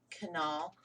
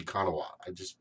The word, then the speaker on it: Kanawha: Canal. They say canal, but I think it's supposed to be Kanawha.